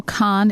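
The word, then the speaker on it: Kahn: just so you know con is spelled ke a H n okay so anyway I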